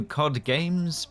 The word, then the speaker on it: KODgames: But that has not stopped solo studio KODgames (pronounced like the fish) from moving onto its second title, Bounty Off Road, which follows on from Bounty Drag Racing in 2023.